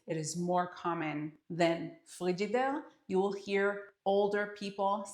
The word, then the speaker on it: Frigidaire: We pronounced it frigidaire, frigidaire, and that is how I remember we used to call fridge.